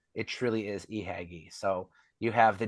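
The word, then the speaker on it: Ihagee: exactly like a j but uh it's not J hay it's it truly is eagy so you have the J hagy Exacta with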